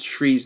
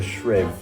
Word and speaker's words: Shree: out how to pronounce Shree's name in full. How do I say it now? Shree. I've been saying Shriv, like short.